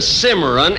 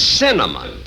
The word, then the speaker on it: cinnamon: pronounce it can you look it isn't Cimarron it's cinnamon now let me ask